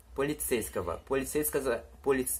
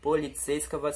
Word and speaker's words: полицейского: Esse kava aqui, ó, não é kovo, não se fala полицейского. Você fala полицейского, tá? É assim que os russos pronunciam. O O, ele tem som de A, às vezes.